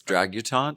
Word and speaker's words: Dragutante: I think it's Dragutante, like debutante.